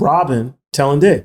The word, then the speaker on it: Robin Tallendier: We have Robin Tallendier.